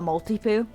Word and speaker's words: Maltipoo: the neighbor's got a malty poo and um which i know that sounds like like multi like multiple but it's like multi is like a maltese that's where the multi